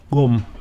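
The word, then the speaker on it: Gqom: I think it's called Kum. Yeah. Yeah, you gotta make a strange movement with the tongue, but Kum.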